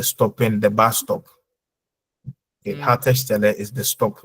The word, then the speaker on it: Haltestelle: Hautstelle. Schau mal, es gibt ein E zwischen Halt und Stelle. Haltestelle. Yeah, the Bushaltestelle. Normally that's the stopping, the bus stop. Okay, Haltestelle is the stop, like where you stop, where buses stop.